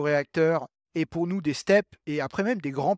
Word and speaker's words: STEP: STEP c'est un acronyme parce que ça se prononce comme un mot, STEP, STEP, donc station de transfert d'énergie par pompage.